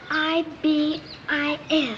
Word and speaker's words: ibis: It's I-B-I-S.